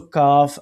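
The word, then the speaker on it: كاف: So, kaf alif zabar ka.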